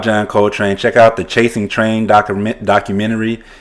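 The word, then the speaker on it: Chasing Trane: It's called Chasing Train, and train is spelled Trane.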